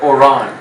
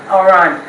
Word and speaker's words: Oran: And do I pronounce that right? It's Oran. Oran.